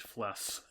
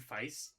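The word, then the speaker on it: Feiss: They're all designed by David Fles. Oh, whoa, dude. That go hard. Don't you mean David Feice? Feist.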